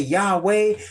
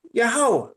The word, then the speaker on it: Yahweh: Some people say Yahweh Hawashai or Yahweh. And I wanted to find out how to say his name. What did I do? I prayed. How should I call you? How should I address you? And he convicted me, Yahweh.